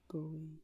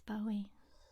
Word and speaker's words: Bowie: that way B because that's not Bowie it's Bowie he said accent man